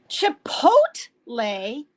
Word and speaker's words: chipotle: what Chipotle Chipotle yes the PO is pot well wait that makes sense because Spanish the O is the O is pronounced o not a right and the E is pronounced a Chipotle oh my God what